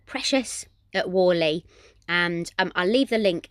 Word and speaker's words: Whalley: you ever come to a little town called wally which is in the river valley is it in the river valley yeah it's spelled w w h a double l e